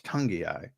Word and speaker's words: Tungiai: And still, I think to this day, I think I'm the only one who pronounces Noah Tungiai's name correctly. And it's Tungiai.